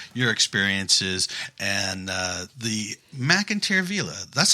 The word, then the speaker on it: McInteer: to us about your experiences and uh the McIntyre Villa that's how you pronounce it correct yep yep okay all right